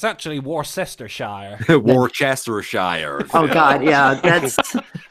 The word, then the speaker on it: Worcestershire: It's actually Worcestershire.